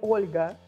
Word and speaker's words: Olga: For me normally I'm Ol'ga but in Dutch, I'm Olga.